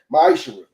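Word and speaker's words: מעשר: Means tenth in Hebrew and is pronounced ma'ishra.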